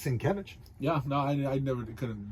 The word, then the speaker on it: Sienkiewicz: There's not a V in his name at all, but it's Sienkiewicz.